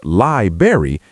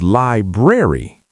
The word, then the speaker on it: library: It's not library. It's library. Wait, there's an R in the middle. Library. Yes, library. There's a B R A R Y. You have to pronounce that R.